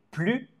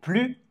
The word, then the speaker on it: plus: par exemple je n'ai plus fin vous ne voulez plus venir ici c'est une négation donc on ne prononce pas le s je n'ai plus fa